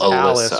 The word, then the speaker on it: Alys: mom's name is Alysa her name is Alice which is spelled a l Ys so it is very